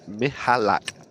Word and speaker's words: Michalak: And just a quick one from Pyosco in the YouTube stream said it's pronounced Michalak. So I'm guessing a silent C.